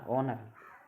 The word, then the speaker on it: honour: जैसे आप मान लो HONOUR ऑनर, इसमें क्या है, एच साइलेंट है, यानी कि वो से पहले आ गई है, ठीक है।